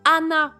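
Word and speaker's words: あな: Hann et ça justement c'est hyper important de prononcer les h en japonais puisque Hann ça peut vouloir dire soit les fleurs soit le nez mais Ana sans h ça veut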